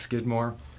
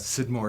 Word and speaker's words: Scidmore: s CID mor e often pronounced skidmore but Sid Moore is my name I've lived in Trinidad